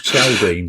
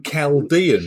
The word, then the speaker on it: Chaldean: now, because we used to call this horse Chaldine for about a year. Well, I thought it was Chaldine, yeah. And now apparently we have to call him Chaldean because somebody's looked up how he's supposed to be pronounced.